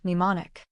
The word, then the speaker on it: mnemonic: Mnestics, Class W, X, Y, and Z, same Greek root as the word mnemonic. The M is silent.